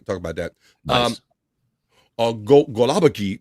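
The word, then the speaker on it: gołąbki: about that um go golabi golabi uh pronounced uh glumpy glumpy the glumpy Polish cage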